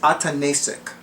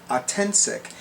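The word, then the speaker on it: Ataentsic: Her name is Atanasic. Her name is spelled capital A, T as in Tom, A,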